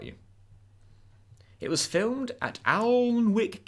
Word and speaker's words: Alnwick: it was filled at Alnwick Castle pronounced annek don't ask in Northumberland